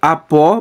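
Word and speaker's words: ἀπό: Então preste atenção, apó mais ruiu, né? Apó, ruiu, essa é a pronúncia.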